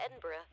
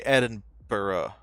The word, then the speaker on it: Edinburgh: catch a train into Edinburgh so that is how you say Edinburgh I've been saying Edinburgh this whole time I feel like such a such an American okay I don't I